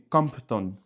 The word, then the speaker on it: Compton: Pas Crampton mais Compton.